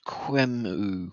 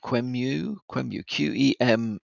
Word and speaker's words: QEMU: Hackers are abusing, I think it's pronounced Qemu, Qemu, which is a Linux open source hypervisor.